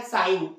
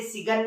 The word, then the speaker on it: sign: जैसे एक सबसे सिंपल सा एग्जांपल आप देखें क्या, साइन, SIGN, इसे सिगन नहीं पढ़ते, क्या पढ़ते हैं, साइन।